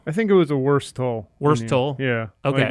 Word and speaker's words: Wurstle: me the hundo i think it was a worse toll worse toll yeah okay like the worst oh